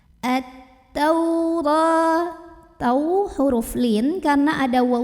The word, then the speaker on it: التوراة: Maka ini alif lam tidak perlu dibaca, langsung masuk ke ta. At-taura. Tau huruf lin karena ada waw sukun sebelumnya fathah, maka dibacanya cukup dilembutkan.